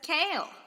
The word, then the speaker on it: kale: frisee guava jabra tacaba kale it's a lot like kyle except it's kale kasha it's like keisha but